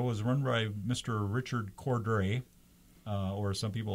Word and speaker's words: Cordray: Corduroy. Corduroy. Yeah. What is the correct pronunciation? I hear both. It looks like it's Cordray. I think it's Cordray. I think it's Cordray. Cordray is correct, but that's what you